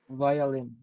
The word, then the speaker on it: violin: Violin. Violin. Violin, good. So you pronounce V, it's in between like V and W, so it's a violin.